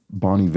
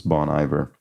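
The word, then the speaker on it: Bon Iver: Indie folks, uh, Bonny V, I think this is pronounced. funny thing where I sort of remember seeing the name of this band for a long time and just assuming it was Bon Ivor until I think years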